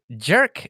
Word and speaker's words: Giarc: Giarc. How do you pronounce that? That's jerk, right? Like, I mean, as close as an English speaker can get, giarc. Yeah. It's just jerk, right?